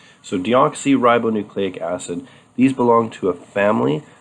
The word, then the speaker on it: deoxyribonucleic acid: name that's this one right here which is pronounced deoxyribonucleic acid so deoxyribonucleic acid these belong to a family of nucleic acids